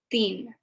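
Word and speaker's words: तीन: i promise you there's a difference and it's pronounced so three is thien okay i want theme balls i want theme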